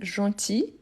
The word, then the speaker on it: gentil: vieille ensuite on a gentil gentil on ne prononce pas le l gentil gentil gentil voilà le féminin on va prolonger le i gentil gentille gentil gentille